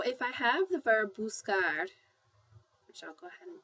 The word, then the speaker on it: buscar: the word buscar, okay, it has a hard C sound. It's pronounced buscar. I'll put that in there. Buscar. That's how you pronounce it.